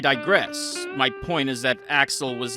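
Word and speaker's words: Axl: I I mispronounced his his name. It's It's actually Axel.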